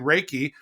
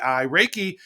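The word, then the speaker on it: Reiki: is really interesting so the the principle behind raiki which is spelled re e i Ki raiki is essentially just your normal energy that you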